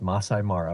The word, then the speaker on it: Masai Mara: regarding Masai is it Masai Mara or Mas Masai Mara it's pronounced Masai Mara with the emphasis on Masai and a slight pause before Mara all right all right